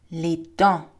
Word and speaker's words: les dents: Les cheveux, le front, les yeux, la bouche, les dents. For the teeth, again, a lot of consonants in French are written but not pronounced.